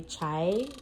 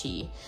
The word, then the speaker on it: CHI: Because in Jamaica, we'd probably say chai, but I think it's chi.